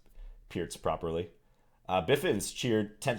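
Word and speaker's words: Pirc: should say uh-huh and he's gonna play the pierce okay note the pronunciation guys pierce that's the proper way to pronounce this opening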